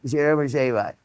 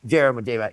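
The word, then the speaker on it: Jeremejevite: And, uh, the key is not to say the hard J. So it's Jermaite or Jermaite.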